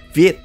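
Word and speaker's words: Việt: related to the vietnamese the word ue is pronounced viet in vietnamese and vietnam means southern yue but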